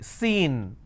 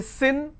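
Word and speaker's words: scene: Can I say sin? Now sin, if I pronounce this as, it will become a different word, S-I-N. So I need to use long vowel sound, C, S, E, N, seen.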